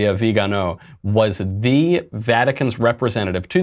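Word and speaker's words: Viganò: Is that how you pronounce it? Vigano, yeah.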